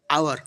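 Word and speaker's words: hour: তাহলে মানে কি বললাম যে একটা সাইলেন্ট এইচ আছে, সাইলেন্ট এইচ ভালো করে উচ্চারণ করতে হবে, এটা হাওয়ার উচ্চারণ একদম হবে না, এটা উচ্চারণ হবে আওয়ার। তারপরে যেটা আমরা হনারেবল বললে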